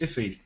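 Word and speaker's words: IIFE: i i f e or as it's pronounced iffy this is a blocker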